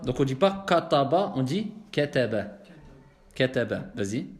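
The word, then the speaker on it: كَتَبَ: Essaye de dire kataba plutôt que kataba. Tu vois? Comme on a dit, on les prononce avec at-tarqiq de façon.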